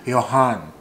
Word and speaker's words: Johan: Jonathan it's uh y Johan something like that Johan because sometimes this name uh when you pronounce Johan sometime sometimes Jay is like silent so sometimes it's like Yan you know just like